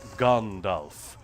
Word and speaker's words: Gandalf: of the fact that Americans always say Gandalf or Gandalf was in fact Christopher Lee is making the argument that the the author literally puts in an appendices and a pronunciation guide at the end of the book. If he's taken the trouble to explain to you that it's pronounced Gandalf, you have to get it right, America.